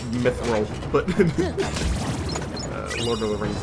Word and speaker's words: mithril: But I purposely pronounced it like that. I know it's Mithril, but Lord of the Rings and all that.